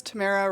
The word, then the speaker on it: Tamara: Tamara rhymes with Sarah, but Tam is great.